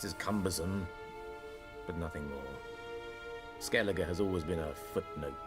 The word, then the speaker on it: Skellige: Skellige, that's how that's pronounced.